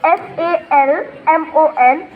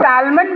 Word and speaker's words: salmon: आप लोग इसको कई लोग salmon बोलते हो. L is silent. It is pronounced as salmon.